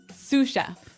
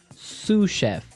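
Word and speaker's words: sous: to our second word suf suf suf suf s o u s so the S is silent because it's like a French word yeah something like that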